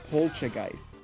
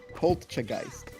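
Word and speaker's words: Polteageist: So it's normally you would say it polgeist, but it's pcheist. There's a t sound. Polchegeist.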